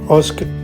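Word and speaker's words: Osijek: Usk is how it's pronounced. It's definitely not how it's spelled.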